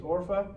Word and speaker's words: Orpah: One's name was Orpah. Sounds like a killer whale.